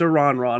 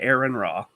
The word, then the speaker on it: Aron Ra: man that's for you it's a ron raw not aaron raw please pronounce his name